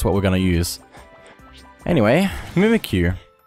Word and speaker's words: Mimikyu: Anyway, Mimikyu. I think that's how to pronounce that. I mean, it makes sense. It's mimicking you.